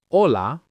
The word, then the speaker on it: hola: Now, an important rule for consonants, the letter H is silent in Spanish. That means we don't pronounce it at all. It's like it isn't there. For example, hola, hotel, right?